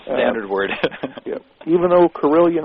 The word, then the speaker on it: Carillion: word yeah even though corillian rhymes with million it's corillian USA c a r